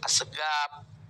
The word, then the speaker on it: Assegaf: Marga ada diantaranya alfas Assegaf Ya tulisannya as-saqof dibaca oleh orang tua Assegaf ada Al Idrus [Tepuk